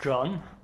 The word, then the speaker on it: Can: So my name is actually pronounced John. Oh, okay. Like the English John. It's no one gets it right. It's a Turkish name. Okay. It's spelled CAN. And I'm the founder and CEO of Kosmosschools.